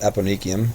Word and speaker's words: eponychium: Eponyium, it's pronounced eponychium. Epo upon niki, the nail.